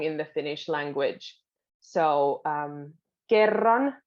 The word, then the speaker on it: kerran: So kerran means once, and it's a double R. So you'll have to kind of roll them.